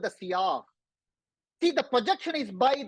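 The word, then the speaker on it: sillage: It's a French word pronounced as sak. Sak means you apply a perfume and walk around. Others will get a a cloud or a mist of perfume. That's called sak.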